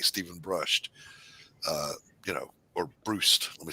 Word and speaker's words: Brust: I like Stephen Brust. Or Brust. Let me say it right, Brust.